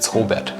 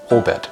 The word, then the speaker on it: Robert: It's Robert. It's a German name. Okay, pronounce it right. Robert.